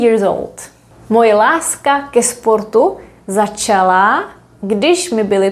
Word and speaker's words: ke sportu: Why don't we say k sportu? Well, because it's a little bit difficult to pronounce. K sportu does not work because the word sport has two consonants at the beginning, sp, sp.